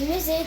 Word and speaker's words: musée: est entre très bien parce que le s lorsque le s elle est entre de voy la prononce z. Très bien. On la prononce z. Le musée de Mahid.